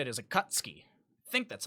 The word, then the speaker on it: Akatsuki: I think it's actually how you say it, is Akatsuki. I think that's how you say it. I don't think you're supposed to pronounce the U.